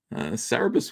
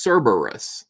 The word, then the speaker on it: Cerebus: hippie dippie 1960s oh people who say it's pronounced Cerberus Cerberus is it because there's another e in there Cerebus we always pronounced it Cerebus you know I don't